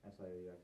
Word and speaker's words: Sioux: In both the Lakota and the SIOUX, how do you pronounce that, by the way?